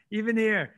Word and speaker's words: Evanier: Evanier.